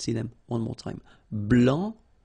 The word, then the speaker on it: blanc: so here, masculine, blanc, don't pronounce the final C, and then blanche.